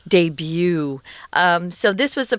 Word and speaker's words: debut: so a debut the the reason why it's weird in its pronunciation guys and it's not deb is because it's french so you pronounce it debut debut um so this was